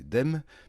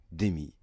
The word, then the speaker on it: Demme: écrans français en 1987 à l'époque en prononcé dem et puis comme souvent ceux qui ont fait LV1 anglais nous ont remis dans le droit chemin et c'est ainsi que l'on dit aujourd'hui Jonathan Demy à ne pas confondre